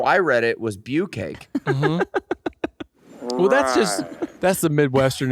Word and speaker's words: bukkake: Bukkake me.